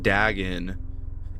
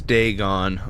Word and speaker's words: Dagon: Oh, I've been saying it wrong this whole time. I've been saying Dagen. It's Deegon.